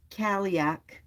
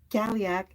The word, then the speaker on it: Cailleach: It says in Irish and Scottish folklore, the Cailleach, pronounced, Cailleach, Cailleach, is the divine hag,